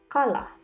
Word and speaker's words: kala: letter k letter k K is pronounced more Softly As in skate rather than the hard K in The Kite for example kala now the letters GB